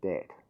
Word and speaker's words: debt: It's called debt, with a silent B.